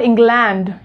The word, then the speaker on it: England: It's going to be like, it's going to be pronounced like England. It's not England, it's England.